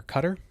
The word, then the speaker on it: Qatar: from a track in qatar or cutter i believe is how you say it um and it would